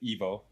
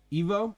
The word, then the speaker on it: Evo: And leading off of that, it does seem Evo like in the chat saying Evo van Doesburg says it's pronounced like I just pronounced it Evo. Evo.